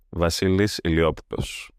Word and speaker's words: Βασίλης Ηλιόπουλος: Βασίλης Ηλιόπουλος. Spell it letter by letter.